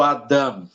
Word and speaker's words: Adam: a pronúncia do do Adam Adam Ou seja você vai enfatizar muito a primeira vogal Adam Por quê você